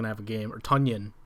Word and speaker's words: Tonyan: have a game or tonyan i don't know if you guys knew nobody yeah funyun yeah it rhymes with funyun so um i think